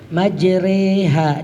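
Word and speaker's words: مجراها: hud ayat ini ya tulisannya majrohad tapi dibaca majreha dibacanya ya kalau di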